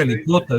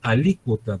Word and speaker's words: alícuota: No dice alicuota, dice alícuota, porque tiene acento en la I.